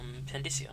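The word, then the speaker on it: Pandyssia: Mysteries of Pandisia. Excerpt from a book on the far continent. No, I said it right the first time. Pandisia.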